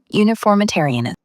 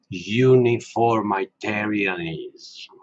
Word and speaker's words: uniformitarianism: Okay, what's the Okay, I paused real quick just to finally pronounce that word right. what's its name? Uniformitarianism. Uniformitarianism.